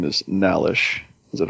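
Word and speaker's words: Nhallish: I can't pronounce it. I don't know how an H right after an N losing subscribers, man. Losing subscribers. I think that would be pronounced Nalish. Yeah, I liked him, and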